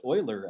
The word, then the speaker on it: Euler: you're on the stage it's pronounced euler actually spoiler yes is this mr